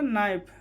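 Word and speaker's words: knife: के एन आई एफ ई क्या होगा, नाइफ।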